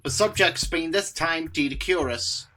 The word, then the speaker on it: Doedicurus: subjects being this time Doedicurus, or Doedicurus as some folks pronounce it, but I refer to it as Doedicurus, because that's how I originally heard it in Walking with Beasts.